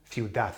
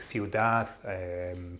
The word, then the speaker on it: ciudad: Notice, just out of interest, talking about pronunciation, when a word finishes with a D, like ciudad, pared, seth, don't be tempted to pronounce the D.